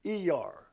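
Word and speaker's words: Iyar: I Y A R, which is to typically pronounced E R.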